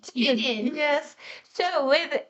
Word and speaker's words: Tilden: No, it would be pronounced Tidden without the Tidden. Oh, that's right. Tilden.